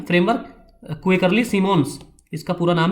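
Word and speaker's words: Symonds: University list, ये एक ranking है फ्रेमवर्क क्वेकरली सिमोन्स, इसका पूरा नाम है क्वेकरली सिमोन्स, जिसे साइमंड्स भी पढ़ा जाता है कहीं कहीं, क्वेकरली सिमोन इसका सही प्रोनाउंसिएशन है।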